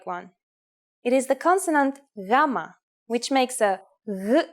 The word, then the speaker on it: gamma: it like a g but it is softer more like the Y sound in you or young here's the uppercase form of gamma gamma and here's the